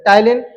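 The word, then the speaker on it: ptyalin: Namely lysozyme and द टाइलेन। टलेन में भैया ये देखना है सबसे इंपॉर्टेंट कि जो पी होता है वो होता है साइलेंट। ठीक है? पी साइलेंट है।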